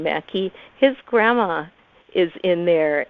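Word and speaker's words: Maki: Society as well, and that's spelled M-A-K-I. It's the Finnish name Mackey.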